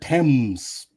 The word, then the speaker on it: Thames: Oh, they pronounce it Thames. Thames, okay. Spelled completely different.